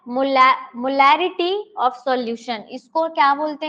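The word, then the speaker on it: molarity: देखिए यहाँ पे रिटी और लिटी दो चीजें हैं। बोलने पर जब हम क्या करते हैं, प्रोनाउंस करते हैं ना, तो सिमिलर लगता है, लेकिन इट्स नॉट सिमिलर। इसका जो आपका साउंड है, आप ध्यान से सुनो, मोलैरिटी, मोलैरिटी और मोलैलिटी। एक में रिटी बोल रही हूँ और एक में लिटी बोल रही हूँ।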